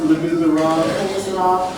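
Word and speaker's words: Les Misérables: Pronounced Le Miserable. Every single Miserable. Not Le Miserable.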